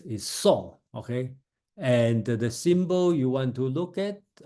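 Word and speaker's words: 訟: The meaning, song is the pronunciation.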